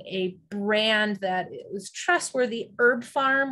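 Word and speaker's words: HerbPharm: Herb Farm, which is spelled with a P, I think, Herb, H-E-R-B, P-H-A-R-M, like pharmacy.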